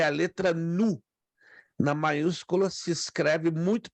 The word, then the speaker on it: nu: próxima é a letra nu na maiúscula se escreve muito parecida com a nossa letra N mas a minúscula lembra uma um v pequeno mas a pronúncia é como de uma n depois a próxima ela